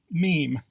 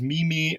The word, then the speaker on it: meme: regardless the proper pronunciation is stomach meme proper pronunciation is meme if you found yourself pronouncing this word as Mimi or Mame don't worry you're not the only one in